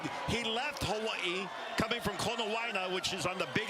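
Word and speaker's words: Konawaena: Konawaina. Yeah. You can add all those vowels in if you want to pronounce every one of them. That's what I was doing. But you can get away with Konawaina.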